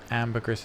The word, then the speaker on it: ambergris: Ambergris is pronounced in the French way ambergris.